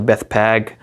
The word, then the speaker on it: Bethphage: There's so many different ways to pronounce that, but there's two Hebrew words. There's a Beth and a Peg. So the Bethphage, or however you want to pronounce it, or Peg, like that's another way to pronounce it.